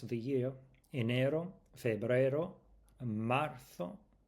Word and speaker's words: marzo: Enero, febrero, marzo. Remember the th with sound with the z. Marzo.